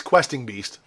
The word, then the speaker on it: Questing Beast: me to I said the name wrong before but it's questing beast questing beast and then